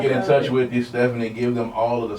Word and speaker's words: Stefunie: I've done rebranding so Stephanie is s-t-e-f-u-n-i-e spelled a little bit different um but still pronounced the same stuffy music that's that